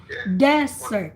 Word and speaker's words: desert: the sahara this desert desert so you um the accent is in the first syllable for sahara desert but desserts deserts the